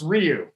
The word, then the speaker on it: Ryu: If you had Hyun-Jin Ryu, it's not Hyun-Jin Ryu. You know what? He gets me. If it's, I've never heard him called Hyun-Jin Ryu though, Captain. I'm not saying you're right. It's Ryu.